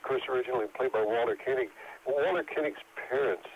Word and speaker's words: Koenig: The one last thing is the Chekhov character, of course, originally played by Walter Koenig. Walter Koenig's parents, or Koenig, as the Germans would say, but he was